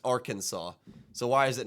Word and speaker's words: Arkansas: like Arkansas and Kansas if you take away the are in Arkansas they should both be pronounced the same way but one is pronounced Kansas the other is pronounced Arkansas so why is it